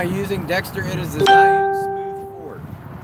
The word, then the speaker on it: Zhiyun: It is the Zion Smooth 4.